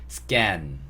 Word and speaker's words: scan: 그래서 scan 이렇게 발음하시면 되고요. can을 할 때는 그냥 can인데 scan이라고 하실 때는 can보다는 쌍기역으로 발음해 주시는 게 훨씬 좋습니다.